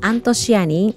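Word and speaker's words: アントシアニン: does by the way we pronounce this antosiani in japanese so for me i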